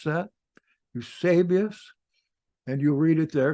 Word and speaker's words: Eusebius: Note how I pronounce that. Eusebius.